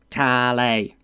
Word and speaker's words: Kale: Yes, I know I pronounce it wrong the entire time. It's Kale. Kale.